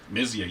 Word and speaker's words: Myzia: Myzia, you got it. See, I've been saying it wrong for so many damn years, but I'm glad to finally get to meet you, buddy.